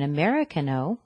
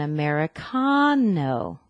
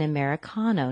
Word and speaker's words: Americano: back to Starbucks and don't order an Americano like American order an Americano with the stress on the con an Americano not Americano the pronunciation was practically